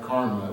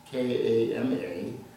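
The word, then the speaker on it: kāma: properties has sense-based Pleasures first karma not not Karma but K A M A which is a sensual desire like in the words Kamas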